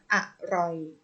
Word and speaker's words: อร่อย: อ่ะ อ่าน ว่า ตลก อร่อย อ่าน ว่า ว่า อร่อย ปรอท อ่าน ว่า ปรอท